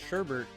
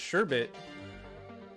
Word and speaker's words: sherbet: i've always everybody i know has called it sherbert uh pronounced sherbet persian drink made of fruit juice water sweetener